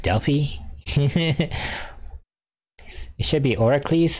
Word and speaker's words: Delphi: the Oracles of Delphi it's actually pronounced Delfy it should be Oracle